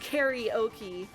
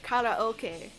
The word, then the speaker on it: karaoke: Like karaoke, it is not pronounced karaoke. It is it's a lone word from Japanese. So the actual pronunciation is karaoke, but we just turned it into karaoke for some reason.